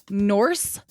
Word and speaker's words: Norse: you knew that yeah it's called Norse mythology like horse with an N it's also called Nordic